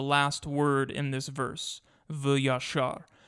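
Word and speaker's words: וְיָשָׁר: Many interpreters want to read instead va'yosher, keeping the same consonants but pronouncing them differently. See our website, linked in the description, for a full description of this problem of vocalization and why the Masoretic vocalization, v'yashar, is to be preferred.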